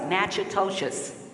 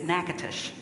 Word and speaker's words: Natchitoches: It looks like Natchitoches, and it's Natchitoches.